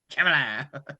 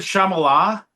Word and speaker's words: Chalamet: Chalamet. I almost said Shamala.